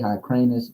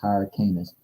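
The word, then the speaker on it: Hyrcanus: Joe Hernan or John hired canis I say hi cranus but you know it's pronounced higher canis it says grandson of matathias and moaning and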